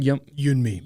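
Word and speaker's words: Yeonmi: And how do you pronounce her name again? Yunmi.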